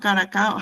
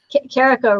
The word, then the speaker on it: Carico: Carico rhymes with Jericho. Caricole. Okay. Caracico.